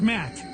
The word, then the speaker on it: Matt: The name's Matt. The second T is silent.